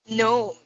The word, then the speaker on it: gnome: no hello no no gnome with m no one more go kids no no no no you will close your mouth like this okay no okay yes let's listen no no no no no yes let's say no no no no no no no g is silent v is silent wow